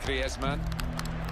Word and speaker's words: Griezmann: So he talks to his dog in Spanish and dreams in Spanish, so I think we can pronounce his name the Spanish way, Griezmann.